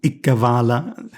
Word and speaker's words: Ikkavala: Well, the ones we see here are Iqbal becoming Ikkavala. But now I'm giving it the classical Sanskrit pronunciation, including the a at the end.